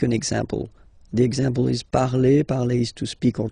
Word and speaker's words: parle: pronounce it is je parle, parle. So remember, we put it, okay, but then we don't really pronounce it, je parle, okay.